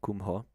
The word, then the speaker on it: Kumho: Then into Kumho. Not Kumbbo Kumho.